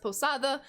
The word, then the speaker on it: Posada: possibly possibly posada yes whenever there is a d in between vowels in the spanish language a d is pronounced as the posadva you might think i'm pronouncing it wrong or it sounds funny to you but it is pronounced posada um i know you